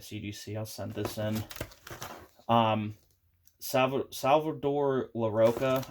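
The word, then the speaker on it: Salvador Larroca: Salvador LaRocca, I think is how you say his name, is the artist.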